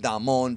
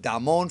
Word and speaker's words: Damon: I believe it's pronounced Damon because Japanese don't really have long A's.